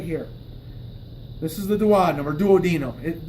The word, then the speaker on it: duodenum: My duodenum is only about this long, from my thumb to my pointer finger. It's this right here. This is the duodenum, or duodenum. The correct Latin pronunciation is duodenum.